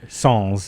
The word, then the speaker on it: Sans: The name of the film is Comic Sans, and it's not with a Z at the end. Right. Sans is actually the proper pronunciation.